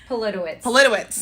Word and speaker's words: Politowicz: I know I'm going to mispronounce his name. Politowicz.